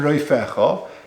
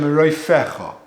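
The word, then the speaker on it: רופאך: It's with a silent fei, with a soft fei, without a dogish in it. Ani Hashem roifecha.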